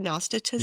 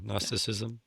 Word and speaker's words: Gnosticism: that practiced um no, how do you say that word? Gnostatism. Yeah. Gnosticism. Yeah.